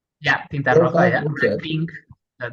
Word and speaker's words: Tinta Roja: Tinta Roja BCN. Am I pronouncing that right? Yeah, Tinta Roja, Roja.